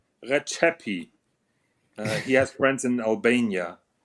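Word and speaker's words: Rexhepi: Yeah, it's Retsepi or it's Rexep. I don't know what the fuck it is. But as he says, it's Recepi. He has friends in Albania, so that is how he pronounces it, and I'll give him the authority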